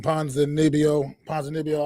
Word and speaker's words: Ponzinibbio: Ponzinibbio, I believe is how he pronounces it.